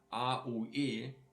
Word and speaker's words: aue: Like if we have here like this following of aue, or ui, or oui. I put it here beneath so you understand how you have to pronounce them. So A-U-E is actually aue.